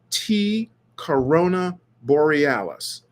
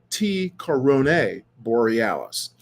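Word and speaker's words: T Coronae Borealis: have been talking about is a star called T Corona Borealis I should really say it properly T Corona Borealis now Corona Borealis is a constellation uh between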